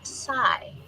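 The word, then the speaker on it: psi: It refers to the 23rd letter of the Greek alphabet and is pronounced sai.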